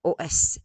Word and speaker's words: os: be written the same, os. And here you heard os. Some people do not pronounce the S and they say des os. It's better to pronounce the S, I guess, in this case, because they might confuse